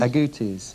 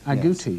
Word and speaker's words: agoutis: Agoutis. Agoutis.